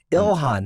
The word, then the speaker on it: Ilhan Omar: Ilhan, that's it.